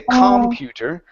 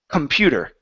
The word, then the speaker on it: computer: it's not on com so we don't say computer it's computer computer okay another word would